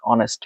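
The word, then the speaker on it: honest: base form বসে এরপর আসেন article sentence ব্্যাক অনেস্ট ম্যান্ অনেস্ট অনেস্ট কারণ এই সাইলেন্ট যখন আছে সাউন্ডের মত উচ্চারণ করছে তখন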